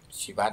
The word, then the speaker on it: Shiva: in Pairava, but the Shiva no, with this H no. Most elfejthetnek majd hát a Parabhairavából. It's Shiva, not Shiva. Shiva. Shiva. Accent on the last vowel, not Shiva.